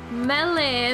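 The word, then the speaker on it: Mêlée: Melee is how you pronounce that word. But you've heard it pronounced like four different ways.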